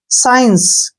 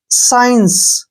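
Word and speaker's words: science: इसको स्कास नहीं पढ़ेंगे सी का उच्चारण हमने नहीं करना है इसको पढ़ेंगे साइंस क्या पढ़ेंगे साइंस ठीक है ना ऐसे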